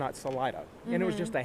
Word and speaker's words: Salida: City and she picked the Spanish word for exit which is actually Salida and that is the correct pronunciation it is so people ask why isn't it Selita because it's not if